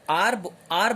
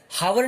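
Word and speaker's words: hour: अब देखो यहां पर आर बोला हमने, इसको हावर नहीं बोलते हम, इसको आर बोलते हैं, क्योंकि एच क्या रहता है यहां पे? साइलेंट रहता है।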